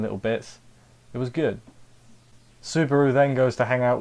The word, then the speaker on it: Subaru: he can help, and she keeps calling him Barasu. Victoria's there, and she keeps like, "Your name is Subaru," and then Ram's like, "Yes, Barasu."